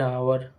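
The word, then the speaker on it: hour: Second B ऐसे शब्दों में जहां एच साइलेंट रहता है। उन शब्दों से पहले एन का प्रयोग किया जाता है।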